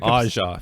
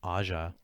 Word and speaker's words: Aja: Aja. Female Aja. scientist Dr. Turner. Aja Turner. It's spelled AJA.